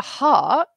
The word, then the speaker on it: heart: hot hot and then when we talk about our heart it's an R sound heart we pronounce it the same as art so when we talk